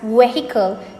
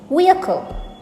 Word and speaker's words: vehicle: to mispronounce it is vehicle most of us pronounce this as vehicle because that is how it is being written but vehicle is not the correct way to pronounce it it is vehicle vehicle notice the uh sound in the middle